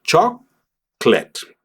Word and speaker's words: chocolate: Pues aquí vamos a decir cho clet y aquí en mi